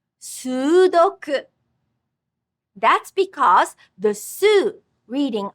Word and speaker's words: sudoku: Similarly, the word sudoku in English has 3 syllables. But in Japanese, there's a double vowel, so it's 4 syllables. Sudoku. Sudoku.